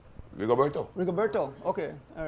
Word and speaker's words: Rigoberto: How pronounce the first name? Rigoberto.